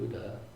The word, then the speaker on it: Buddha: Um, if you ask a Thai person sort of to pronounce uh the name of the Buddha, they'll say bto bto, which is much closer to the the poly.